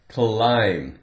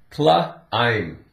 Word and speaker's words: climb: Climb. Now this sounds like if we make a contraction with the word I am, I'm hungry. Climb. That's the word. The B is silent.